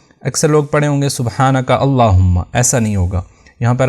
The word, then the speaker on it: سبحانک اللہم: ساتھ ادا کریں گے۔ بعض لوگ اس کو سختی کے ساتھ نہیں ادا کرتے، وہ سبحانک اللہم یعنی بغیر سختی کے اس کو ادا کر دیتے ہیں۔ تو صحیح تلفظ ہوگا سبحانک اللہم۔ اس کے بعد میم